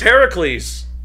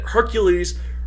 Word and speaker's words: Heracles: everyone calls them mercury's the proper greek name is heracles i feel like americans wouldn't like that though we like mispronouncing stuff i know i just for some reason i get hercules rolls off the tongue better than heracles yeah but but yeah